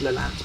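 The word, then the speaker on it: Lelant: You can probably see Leland Saltings if I just carry on a little bit to prove my point. There you go, that's Leland Saltings. And it is said Leland, by the way.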